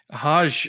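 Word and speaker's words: Hoge: Hodge, which I actually looked it up a couple weeks before the draft because I thought it was Hogue as well. I guess he pronounces it Hodge.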